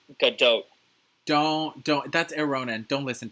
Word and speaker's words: Gadot: Her name is pronounced Gadot.